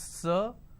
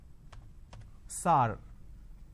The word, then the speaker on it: sir: Majority of the people pronounce the word sir as sar.